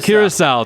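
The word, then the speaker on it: Curaçao: got something from our producer what how's it pronounced oh Curacao thank you uh it always takes us alcoholic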